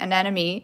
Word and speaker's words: anemone: And I was thinking when I was practicing saying anemone, it's like an enemy.